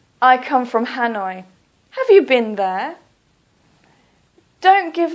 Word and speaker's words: Hanoi: Please try to use the English pronunciation. So, for example, Hanoi. Please don't say Ha-noi. Please say Hanoi.